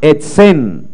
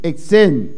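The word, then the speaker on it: עצם: Porque en hebreo Mas tem hebreu, la palabra hueso a palavra hueso, se pronuncia a pronunciar etsen, exen.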